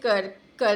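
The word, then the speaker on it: circa: क्या प्रोनाउंस करते हैं तुम लोग गूगल सर्च करके देख लेना स्पेलिंग मैं तुम्हें बताती हूं करका ये एक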